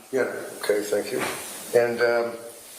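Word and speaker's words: Jena: V A T E R A medical in Jenna J E N A German. Yeah, it's pronounced Yenna. Yenna.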